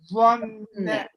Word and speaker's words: ظن: Can you make the ظا more heavy? إنه ظن. Not ظا. ظن.